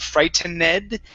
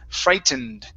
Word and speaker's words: frightened: Okay, so when you have an ed ending at the end here, Alonso, this E is not pronounced in most cases. Okay, we actually have 3 ed endings. This is the first one. It's a D sound.